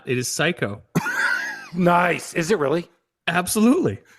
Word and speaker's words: Cayko: It is Cayko.